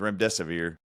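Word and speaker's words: remdesivir: So if you hear something that rhymes with rem desae uh or run rhymes with run death is near that's the drug and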